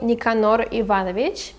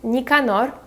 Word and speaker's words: Nicanor: is alexandrovic another character we have is basoy nicanor so his last name would be basoi bassoy and his first name is nicanor nicanor that is a very old name i don't